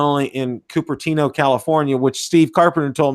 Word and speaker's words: Cupertino: And, they got smart here in the States, because now not only in Cupertino, California, which Steve Carpenter told me I pronounced right.